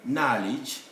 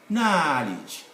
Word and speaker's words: knowledge: k simple straightforward case any k standing in front of n must be dropped from the pronunciation so we have here for that spelling knowledge knowledge long ah knee same